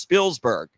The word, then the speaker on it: Spielberg: But you have Corey to enlighten us all, and it's actually pronounced Spielberg.